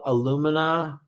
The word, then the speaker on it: alumina: ceramic tube, it's called alumina ceramic. Alumina, like aluminum. It's spelled like aluminum without the N at the end.